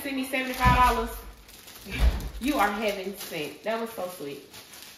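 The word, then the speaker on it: Hevin: So yeah, it's heaven. That is so cute, and it's spelled H-E-V-I-N, heaven. And I hope I pronounced it correct. I'm almost certain her name is Heaven.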